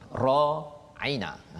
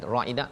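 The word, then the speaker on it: راعنا: Dia tak ra'ina, ain tu berapa harakat Ustaz? Ain tu tidak ada harakat. Ra tu 2 harakat. Ra 2 harakat, ain 1 harakat. Na 2 harakat. 2 harakat, ya. Jadi kalau bacanya panjang, ra aina 2 harakat, dia jadi maksud lain.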